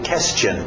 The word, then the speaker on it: question: skirt skirt skirt question cuidado com esse u português temos questão vai querer dizer question tem que entrar no question question continuando trck Truck